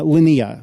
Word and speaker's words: Linea: go back forth yeah it's lania because it's from the Latin word for line l i n u